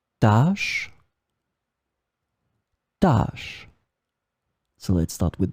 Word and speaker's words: tâche: In this lesson, we will see together two words that are written differently but pronounced the same way. Tâche, tâche.